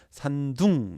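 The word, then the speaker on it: 山东: 태산의 동쪽에 있다 해서 산동반도, 산동을 중국식으로는 산둥 이렇게 말해서 산둥성 이라고 하고요.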